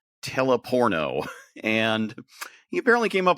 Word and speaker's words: Teleporno: It's spelled exactly the way I'm sounding it, Teleporno.